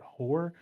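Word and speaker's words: Peter Hoar: Hoare or Hoare. It's looks like it's spelled Hoare, but Hoare.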